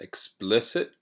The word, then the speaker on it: explicit: the word explicit explicit so notice that the stress is on the lit explicit um this word in